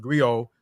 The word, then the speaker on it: griot: griaca Jolly professional Encompass many roles the griac pronounced Grio um has been referred to as a historian